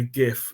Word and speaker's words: GIF: yes I said GIF not GIF I'm sure there's some people in the comments that might point out that's incorrect but given this is my presentation I'm just going to state that it's factually pronounced gif secondly that gift clearly